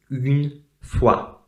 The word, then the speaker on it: une fois: Okay, so the word once in French is pronounced une fois. Une fois. Okay, so as you can see, first of all, we have a very strange sound. Okay, U is not U, it's U. Okay, it's a different sound than U.